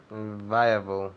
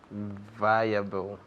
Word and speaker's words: viable: Viable. Okay, good. Pronunciation? Viable.